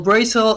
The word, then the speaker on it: Brazel: character is Brazil so let's start with Brazil or Brazil if you go with the Spanish pronunciation well actually he's supposed to be a Blazer according to the Chinese but everything messed up with a romanization so it's pretty complicated